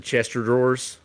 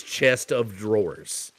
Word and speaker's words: chest of drawers: day, right, with the Chester drawers and stuff like that. I was literally like last year before I knew that it was chest of drawers. So because I knew we didn't say it right.